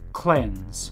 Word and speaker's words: cleanse: A word that ends in N-S-E and rhymes with lens. I found one. One. Cleanse.